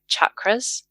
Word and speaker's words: chakras: slip in here that the pronunciation chakras is a westernized version it's a Sanskrit word with a hard CH so chakras absolutely and um yeah